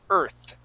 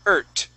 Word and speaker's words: earth: When you had read it, you had said ert, using more of a T. Just remember, when that T and the H are together, we put our tongue between our teeth and we say that th sound, earth, okay?